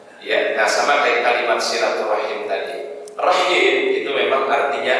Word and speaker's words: silaturahim: Tapi kita tidak salah hanya menggunakan silaturahmi. Sebenarnya maknanya yang dia inginkan itu apa? Silaturahim. Jadi artinya Ustaz ingin memberikan pemahaman kepada kita semua. Ada hal-hal memang mungkin pengucapannya berbeda, tetapi substansinya sama yang dimaksudkan, ya.